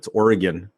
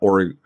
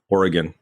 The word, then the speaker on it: Oregon: But and for all the listeners out there, it's Oregon, not Oregon, Oregon.